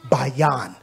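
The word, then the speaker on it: בין: the word understand understand it is pronounced Bayan in ancient Hebrew ban this first character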